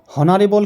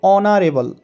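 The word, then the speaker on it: honourable: তারপরে দেখো অনারেবল person, অনারেবল অর্থাৎ সম্মানীয়, এখানে হনারেবল কিন্তু না, এখানে উচ্চারণটি হবে অনারেবল, তাহলে অ উচ্চারণ হবে।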